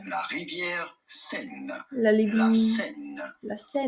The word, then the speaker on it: Seine: In French, we would say Seine. Seine. La rivière Seine.